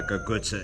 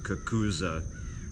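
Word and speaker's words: cucuzza: They know what a gagutsa is, even if you pronounce it kakuza, right?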